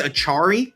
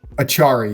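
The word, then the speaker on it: Acciari: So Nedeljkovic, it's Achari. Achari, yeah. Like Atari, but if you threw like a pretty much, yeah, Achari.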